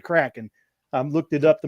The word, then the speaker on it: Kraken: And it is said Kraken. I looked it up to make sure I was pronouncing it right.